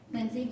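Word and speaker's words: Lindsey: can you just say your name again and spell it lindsy um l i n DS e y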